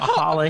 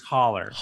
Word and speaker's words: holler: It's not holla here. It's holler.